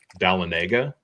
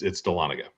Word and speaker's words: Dahlonega: To me, it sounds like Talladega. It looks like Talladega. So it looks like Dahlonega should be pronounced Dahlonega, kind of the same way. Right. But it's not. It's Dahlonega.